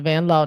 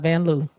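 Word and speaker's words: Vanloo: Julie van L and that's how she says it that's how it's pronounced van L not van Lou Leeman oh n n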